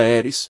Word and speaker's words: Ares: um software de segurança chamado Ares, que se pronuncia Eris, o controlador mestre.